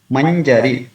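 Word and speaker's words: mañjarī: After ma, there is a nya. So according to the rule, this we can see the combination of consonants here, nya and ja. So the first one, nya, should be pronounced till the period of one matra.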